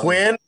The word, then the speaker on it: Nguyen: Let's hear the pronunciation. Come on. Quinn. Yeah, that's right.